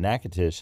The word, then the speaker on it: Natchitoches: spell Natchitoches I will tell you it is n a t c h i t o c h e s Natchitoches and it is from the name of